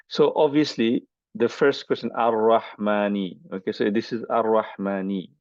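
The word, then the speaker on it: الرحمنِ: So obviously the first question, Ar-Rahmani. Okay, so this is Ar-Rahmani. Okay. So it's very easy. It's E sound at the end.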